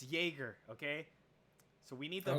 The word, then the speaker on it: Jaeger: trap okay we are not gonna go like JEA ger is pronounced Jagger okay this is not it's Jaeger okay so we need